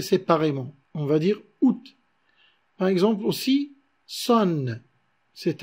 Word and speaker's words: août: Par exemple, août, le mois d'août, qui se dit août au lieu de dire out.